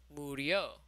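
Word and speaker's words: murió: Mori and Moriste are totally regular, but then we get down to Murio with a U.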